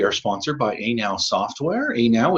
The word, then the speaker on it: Anow: Anow is spelled A-N-O-W, as in Appraisers Now software.